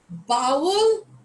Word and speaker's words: bowel: The pronunciation is bowl. Bowel is your bowel movements in your stomach.